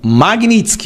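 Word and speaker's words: Magnitsky: ideia do que era essa tal lei Magnitsk. Magnitsk, a pronúncia correta, tá?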